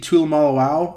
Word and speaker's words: Tuimoloau: With the Chiefs, I would take JT Tuimoloau, I think is how you pronounce his name. That's how I heard Joel Klatt say it, the edge rusher from Ohio State.